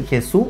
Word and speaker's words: Jesús: ¿Se dice Jesús o Jesús? Pregúntalo. Pregúntalo. Supercomputador. ¿Cómo se dice tu nombre? Jesús. Jesús. Jesús. Ah, con acento en la E.